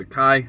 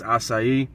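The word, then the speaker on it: açaí: called raspberry and acai i used to call it a kai i've recently learned it's acai so i'll pronounce it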